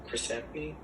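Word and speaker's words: Samnee: Chris Samney? Is that how you pronounce it?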